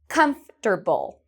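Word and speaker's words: comfortable: Đuợc, này, tôi thực sự muốn bạn để thực hành: "thoải mái", "comfterble", "thoải mái", "Đó là chiếc ghế thoải mái.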